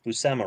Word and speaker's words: Buscema: i i'm kind of surprised that i always pronounce bussema right yeah close but that may be because